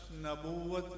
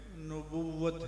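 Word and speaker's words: نبوّت: کے بعد تاجدار ختم نبوت کا جو نعرہ لگانے والے ہیں تو نون پر زبر نہیں ہوتی، نون پر پیش ہوتی ہے۔ یہ لفظ نبوت نہیں ہے، نبوت ہے۔ اس لیے جب آپ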